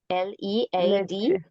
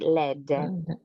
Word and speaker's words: lead: um does the concrete have yeah okay lead l-e-a-d but you said lead but the pronunciation is lead uh I see all right okay which amount